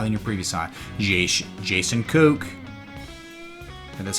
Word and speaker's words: Koch: Jason Koch. And that's how you say the Koch brothers, right? Coach. It's not Coach, it's Koch.